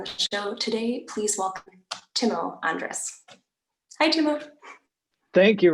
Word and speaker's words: Timo: thrilled to be joined by pianist and composer teemo timo andres sorry um is uh i'm a really